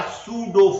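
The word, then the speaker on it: pseudo: कहेंगे, हम क्या कहेंगे, they are सूडो force, PSUDO, P इसमें साइलेंट है, सूडो फोर्स।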